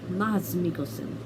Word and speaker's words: Mads Mikkelsen: stars mads mikkelsen anyway i should say his name correctly mas mikosen anyway yeah i watch hannibal